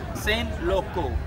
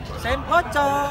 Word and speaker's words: Saint Loco: Kalau ini tolong dibacanya pakai bahasa Inggris ya, Saint Loco. Kalau dibaca bahasa Indonesia, Saint Loco. Gak enak kan?